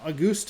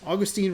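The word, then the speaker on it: Agustín: And then May rookies of the month, Roman Anthony for Boston and August Ramirez, Augustine Ramirez, I believe is how that is pronounced for Miami.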